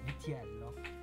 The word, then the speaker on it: Vello: boss this is Albert viello vello how do I pronounce Vell is good vello and Albert started upholstering